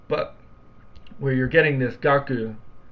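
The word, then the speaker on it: 学: So how is this character pronounced normally by itself in Japanese? Gaku.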